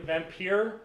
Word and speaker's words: Vampyr: I've been playing Vampyr. It's a PS4 game. It's very fun. It's spelled with a Y, not an I-R-E, right? Yes. This is vampire or vampire? Vampyr. I mean, that's the way I read it.